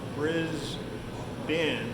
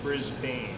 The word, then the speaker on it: Brisbane: Okay, don't pronounce it Melbourne, and don't pronounce Brisbane as Brisbane. If you want to be on the in, it's Brisbane and it's Melbourne. Okay, not Melbourne. That's in Florida.